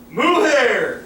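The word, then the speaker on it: mujer: a little the oh how do you say it moo hair like Mr Co has no hair but girls have Mo hair with they only a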